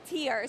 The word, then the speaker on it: TYR: TYR, it's actually pronounced TYR, so it's the TYR Pro Swim Series, but that just shows how much I know about sports.